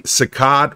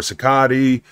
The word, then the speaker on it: Cicotte: The best pitcher on the team was Eddie Cicotte or Cicotte. It's pronounced many different ways by many people.